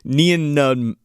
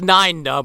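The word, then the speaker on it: Nien Nunb: No, so Martin Landau, Neon Nub. How do you say his name? Neon Nub. It's Nine Nub.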